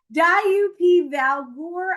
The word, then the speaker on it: Djúpivogur: I know, and believe it or not, this is how you pronounce these. Djúpivogur, Iceland, the Westman Islands, and Reykjavik.